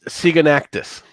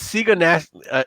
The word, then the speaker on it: Sigonaxius: That's Sigonactus. You're going to have to spell that one for me. No. Spelled like it sounds. Sigonactus. Actually, it's Sigonaxius.